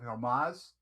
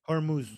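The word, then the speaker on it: Hormuz: They've been playing games for the last couple of months in the streets of Hermas. I think I'm pronouncing that right. But it's Hermuz.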